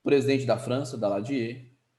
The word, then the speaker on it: Daladier: Escreve Daladier, pronuncia Daladier.